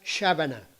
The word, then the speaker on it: sabana: del taíno de Haití antiguamente se encuentra siempre escrita y pronunciada shabana como llanura sin árboles